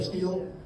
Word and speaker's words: stele: That's S-T-E-L-E. I don't know how to say it, stele or steel. Stele.